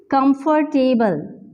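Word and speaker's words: comfortable: और यह दिस इस नोट प्रोनाउंस लाइक दिस हमारे पास बिल्कुल साइलेंट है ल नहीं आता बल्कि यहां पे आर का जो साउंड है वो प्रोड्यूस होता है सो लुक हमें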